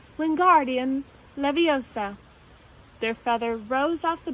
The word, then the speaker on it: Wingardium Leviosa: wasn't having much luck Wingardium Leviosa he shouted waving his arms like a windmill you're saying it wrong Harry heard Hermione stuck its Wingardium Leviosa make the guard nice and long you'd do it then